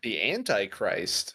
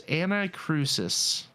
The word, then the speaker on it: Anacrusis: I'm messing up today. The Antichrist. No, it's Anacrusis. The Anacrusis. I know. I'm pretty sure that's how you pronounce that.